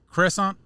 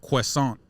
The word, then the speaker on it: croissant: It's funny when the French instead of usually here in America people usually say a croissant, but the way it's pronounced is croissant. Croissant. Yeah, that's the way they pronounce it out there.